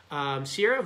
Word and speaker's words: Sierra: Sierra, who's, did I pronounce that right? To the Gibbs family, Sierra? Yeah, it even says it right there. Sierra, age 9, name is said like Sierra.